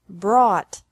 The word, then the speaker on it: brought: Bring, brought, brought. Buy, bought, bought. Catch, caught, caught. Fight, fought, fought. Seek, sought, sought. Teach, taught, taught. Think, thought, thought. Remember that the G is silent in these verbs.